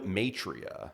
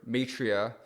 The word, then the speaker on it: Maitreya: spirituality thing is the the name Matria. How did that happen? Yeah, we we were young. Um, okay. Cuz it rhymes with a bar nearby here, Atria.